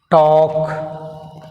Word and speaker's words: talk: Talk. L silent.